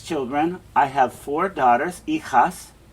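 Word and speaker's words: hijas: i have four daughters ichas notice the h is silent right so we don't want to pronounce that h yo dengo dos ejos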